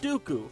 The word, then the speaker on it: Dooku: the White and the rhymes with pupu Count Dooku from the worst Star